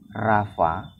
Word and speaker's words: Rapha: Saya dengar kisahnya entah benar atau tidak, orang-orang Perjanjian Lama itu kalau mau menulis YHWH Rafa ya, YHWH RAPHA itu tulisannya, bacanya Rafa gitu.